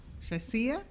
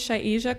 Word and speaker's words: Shazia: I think it's Shazia. Shazia? No. She's followed by Karen Strickland. Go ahead, say your correct pronunciation. Hi, my name is Shaija.